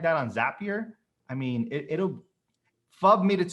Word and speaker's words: Zapier: I know that Zap, like it's a zap. Zap. Okay, go. Zapier. So the idea here is that if you were to do something like that on Zapier, I mean, FUB made